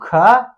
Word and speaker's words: ख: उच्चारण करने के बाद बोल गलत देता है वो, ख थोड़ा सा लंबा सांस लेके बोलना पड़ता है।